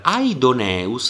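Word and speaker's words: Ἀϊδωνεύς: nome aidoneus che è un nome proprio allora aidoneus si scrive così allora qui abbiamo vedete due dittonghi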